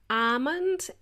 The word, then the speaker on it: almond: It is spelled as A-L-M-O-N-D, and there is a silent L. So my friend didn't know there was a silent L in there. And when you say it, you kind of prolong that almond.